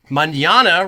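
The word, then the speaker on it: mañana: is pronounced grassy ass Manana rhymes with banana Uno is pronounced you know and Tres rhymes with dress none of those things are true uh the AI was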